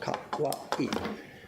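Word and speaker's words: kawaii: Yes, his name is Kawa. It's 3 syllables. Kawai. The famous word you know that means cute is 4 syllables.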